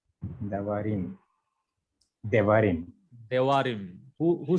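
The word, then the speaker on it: דברים: Devarim.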